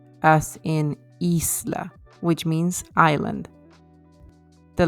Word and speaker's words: isla: in b e b so the mouth is a bit open and the lips are not rounded so e as in Isla which means Island the